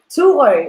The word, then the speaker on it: Thurø: Can you pronounce the name? Thurø. It means Thor's Island.